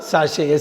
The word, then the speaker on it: sachet: உங்கள் shampoo பேக்கெட் வரும், அதுதான் சாஷே. SACHET ஞாபகம் வச்சுங்க. இந்த T வந்து சைலண்ட், SACHET.